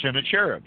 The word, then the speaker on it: Sennacherib: the military campaign of Sennacherib or Sennacherib's some people pronounce it that way as he came into